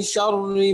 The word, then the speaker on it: شر: বিসমিল্লাহির রহমানির রহিম قل اعوذ برب الفلق من شر ما خلق ومن شر غاسق اذا وقب এটা মোটা হবে না, শর আপনি শররি মোটা হয়ে যাচ্ছে, চিকন হবে।